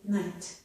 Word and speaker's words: night: When followed by the letter T, the GH is silent, we hear only the T, as in night.